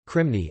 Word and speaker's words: Κρημνοί: derivation from the Greek kremnoi, kremnoi in post-classical Koine Greek pronunciation, krimni, i.e., the cliffs, a